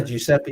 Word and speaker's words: Giuseppe: yeah and yeah um giuseppe i think that's his name um or how do you say his name yeah giuseppe is right yeah come on yeah